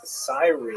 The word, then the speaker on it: Cyrene: I've looked it up and I've heard it pronounced as Cyrene in English. In Greek, it would have been something like Kurene. So I'm probably going to say Kurene, and I'll probably be wrong, but this wouldn't be the first time.